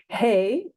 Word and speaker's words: hey: transliterate as a y hey rhyming with say which we transliterate as